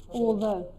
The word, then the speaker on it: although: Although No, estás poniendo un consonante al final. Although. O. Acaba en O. Although. Although. Esa es la pronunciación.